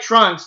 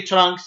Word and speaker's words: Trunks: But most of the time, the only person I've ever heard say Trunks with the U so strong is Goku on certain times, but most of the other characters just say Trunks. It's just the U is silent.